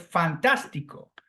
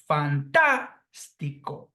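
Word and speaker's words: fantástico: from the end is Fantastico the same goes with the phonetic sound Falls on the third syllable from the end so this word is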